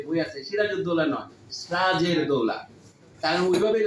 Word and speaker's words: সিরাজুদ্দৌলা: স্যার সেটা হচ্ছে আবার সত্য সাদ্দাম হোসেন ও সিরাজের দৌলা নামে যে বই আছে সিরাজুদ্দৌলা নয় সিরাজের দৌলা কারণ ঐভাবেই লেখা হইতো মুসলমানদের